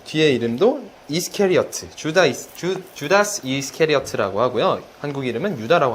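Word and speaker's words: Judas: 영어 발음은요, 주다스. 네, 뒤에 이름도 이스케리어트, 주다스 이스케리어트라고 하고요.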